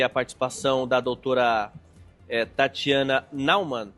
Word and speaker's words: Naumann: Agradeço demais aqui a participação da doutora Tatiana Naumann. Pronunciei certo o seu nome, doutora, por favor?